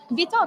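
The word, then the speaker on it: bitoque: I noticed you had a bitoc today, right? You had a Sorry? bitoc, which is bitoc. Bitok. Yes, that was my which is pronunciation.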